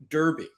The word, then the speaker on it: Derby: We got to work on your pronunciation of Derby. Derby. There it is. I worked on it. You won't get me saying Derby. I'll change a lot, but I'll be Derby.